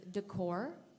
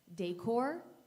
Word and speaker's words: decor: contestant your word is Decor this word has two correct pronunciations decor decor decor d e c